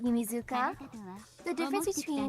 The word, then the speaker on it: Yumizuka: Like you could hear her saying Yumizuka.